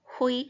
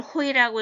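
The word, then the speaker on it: οἱ: 여성, 중성이고 복수인 경우에는 호이, 하이, 따. 왜 이걸 호이라고 읽을까? 잘 안 보여도 입이 이제 연습이 되어서 자동으로 그렇게 나와야 돼. 거친 순표입니다. 호이, 하이, 따.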